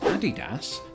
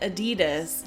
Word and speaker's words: Adidas: Well, you pronounce it Adidas. It's not the same. Adidas. Adidas. It sounds like you're a little child trying to pronounce a word for the first time. just sounds like the capital of Ethiopia.